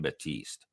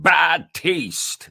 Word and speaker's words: Batiste: the Phillies named Kim Batiste but he didn't call him Kim Batiste he got him Kim bad taste like he added an extra syllable or there was another